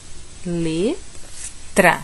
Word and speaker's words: letra: que eu citei ó leta não é leta ou leta é letra eu tenho que incluir o r na pronúncia antes de chegar no Ar letra eu junto o terno r e chego até o a e não simplesmente falo letar junto direto o terno lá